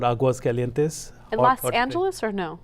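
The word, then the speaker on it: Aguascalientes: It's Aguas Calientes.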